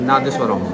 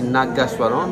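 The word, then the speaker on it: Nadaswaram: Normalement, c'est maman a appris que ça s'appelle Nadeswaram. Nadeswaram. Il dit Nagaswaram, mais maman a appris comme ça.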